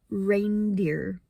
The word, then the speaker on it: reindeer: And it's kind of just the word ear but with a d in the front. Dear. Reindeer.